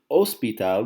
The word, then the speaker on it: hospital: course you have an OSP tab we don't say el hospital ok ed OSP tab because the H is silent El Teatro the theater